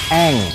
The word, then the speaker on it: Aang: Dan menurut sumber informasi, anak tersebut namanya Aang. Ini naskahnya, oh iya, cara bacanya Eng.